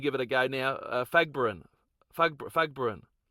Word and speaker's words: Fagborun: Fagbrin Fagbrin Balu is correct. Balu Fagbrin who played for who played for the Bradford